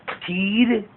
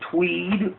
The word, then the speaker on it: Teed: of Christ Cyrus Reed teed or Tweed as it was originally pronounced 18 1839 to 1908